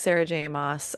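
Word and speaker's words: Sarah J. Maas: For today's book banter, we will be discussing all things Sarah J. Moss. We looked it up how to pronounce it because we were like mass or moss.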